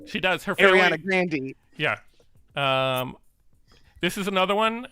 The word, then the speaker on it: Grande: Lisa's annoyed, saying we do not pronounce the E in Grande, but we do. Apparently she does. She does. Her family... Ariana Grande.